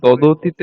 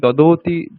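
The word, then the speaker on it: ददाति: কলত্রে জয়শ্রী তোমার এই দদীতে একটু উচ্চারণটা সমস্যা আছে তুমি দৌতি দৌতি বলছো তো ওটা শুনতে দয়কার তস এরকম মানে যদি আমি ভাবি এরকম মনে হচ্ছে সুন্দর দাদতি ওটা হবে দাদাতি দাদাতি বেশি সময় দেওয়ার দরকার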